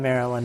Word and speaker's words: Marriland: So if I'm pronouncing it as the state, I would say Maryland, like Maryland. But if I'm pronouncing it as my username, I say Maryland. Like, I guess it's emphasis on the, I don't know, Maryland versus Maryland. Like Maryland or Maryland. Like for me, it's Maryland.